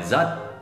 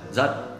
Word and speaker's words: rất: Còn chữ R thì khi họ nói rất thì không phải là rất, không phải là rất, rất. Không phải. Cái chữ R trong tiếng Sài Gòn á, thì mọi người thường nói là chữ G.